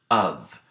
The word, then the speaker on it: of: to what's happening in the word of that F isn't actually making the sound we typically associate with the letter it's actually making the sound that we associate with the letter V of so in this instance